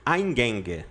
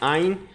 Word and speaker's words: Eingang: Eingang, tá? Pronúncia, mais ou menos assim, ó. Eingang.